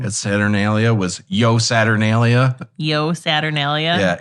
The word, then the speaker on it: Io: saturnalia was yo saturnalia yo saturnalia yeah it's spelled IO but it's pronounced yo interesting but people would